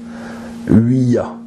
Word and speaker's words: Ouija: Normalement, on devrait le prononcer Ouija. Oui pour le français et ya pour l'allemand.